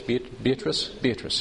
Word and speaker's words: Beatrice: Beatrice, yes.